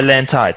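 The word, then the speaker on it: LANTITE: là phải hoàn thành cái bài test là Lantide. Sorry, Desmond, Yes. I pronounced the word right. Yeah, Lantide. That's right. Yes, it is called Lantide.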